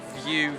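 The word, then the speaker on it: Vieux: So this is the View Lyon. It's spelled in a French way, V-I-E-U-X, and it gives you like really cool panoramic views of Lyon.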